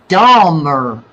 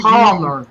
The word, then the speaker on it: Dahmer: It's Dahmer. Yes, not Palmer. Dahmer.